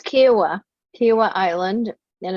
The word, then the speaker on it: Kiawah: think it's becoming a popular destination kiwa it's kiwa kiwa island and it's outside charlotte i mean